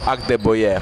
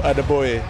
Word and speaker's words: Adegboye: No, it's not. It's Agdeboye. The G in my last name is silent. So it's without accent at the end. No, Agdeboye. Agdeboye. Yeah, the G is silent, so it's like Agdeboye.